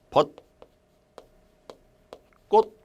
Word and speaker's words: 벚꽃: 외국의 쇼 그래서 자 벚꽃이 라는 것에 발음은 이렇게 발음 뭐라고 있습니다 벗 꽃 요렇게 이거 가지고서 표기 옮긴